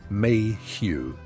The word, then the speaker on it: Mayhew: Gaskell, and Henry Mayhew, pronounced Mayhew, who interviewed the poor and wrote down what they said.